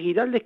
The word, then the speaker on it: Güiraldes: Eso está, vio que es muy común, todos decimos Ricardo Guiraldes, pero al tener doble puntuación sería Guiraldes, ¿no es cierto?